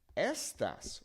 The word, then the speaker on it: estas: But notice how it is not saying you are, right? Estás versus estas. That is why proper pronunciation is very, very important.